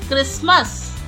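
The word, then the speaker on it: Christmas: क्रिसमस, क्रिसमस, इसमें T silent रहता है।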